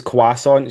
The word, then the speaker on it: croissant: But Rachel says quasonant. She replaces the R with a W.